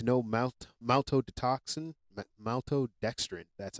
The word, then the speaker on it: maltodextrin: crash W contains no mouth maltode to toxin maltodextrin that's how it's pronounced sorry sugars fillers artificial colors or dyes